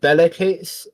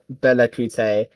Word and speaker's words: Bellacoots: Bellacoot's is the imperial name when it was an empire. Bellacoot's isn't pronounced Bellacoote because Bellacoots doesn't have an E in it. Bellacoots just has coots.